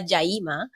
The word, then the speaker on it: Yaima: And as you will say probably pronounce it properly in Cuba, Jaima.